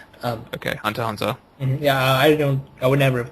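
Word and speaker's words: Hunter × Hunter: Hunter x Hunter does not deserve that, and by the way, we should not pronounce the X. Okay, Hunter x Hunter.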